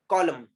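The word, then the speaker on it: column: What is this word, कॉलम, we don't say कॉलम नो, any silent, why, there is a rule.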